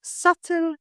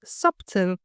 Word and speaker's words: subtle: words with silent letter many English words include letters that are written but not pronounced leading to common mistakes for example the word subtle it's pronounced subtle not subtle for instance she made